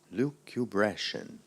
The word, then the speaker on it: lucubration: b a r b that's right Nathan lucubrashian lucubration excuse me lucubration Luke abrasion may I have